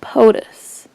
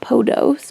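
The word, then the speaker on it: Podos: it's Rebecca POTUS POTUS Rebecca POTUS is how you say her name not PO dos but POTUS so there's that yeah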